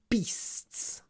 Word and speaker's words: beasts: beasts so it's interesting often people think e is a long sound that do a ganly e e that because beasts beasts it's short the e is short because it comes before an unvoiced sound beasts beasts it's not long at all um I